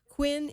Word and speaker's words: Huynh: of fame so my guest is Quinn and you pronounced it eight Quinn but it's h uy